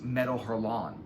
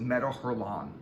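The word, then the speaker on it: Métal Hurlant: France, and it was Metal Hurlant. And it's not Metal Hurlant because I heard the way they pronounce it, and they pronounce it Metal Hurlant because it's French.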